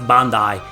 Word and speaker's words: Bandai: Bandai Namco. Sorry, Bandai. It's actually pronounced Bandai. I think when I started making videos in English on YouTube, I said that, you know, like Bandai Namco.